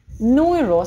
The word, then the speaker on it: neuro: Neuro, смотрите, люйко, neuro, опять это звук «ю».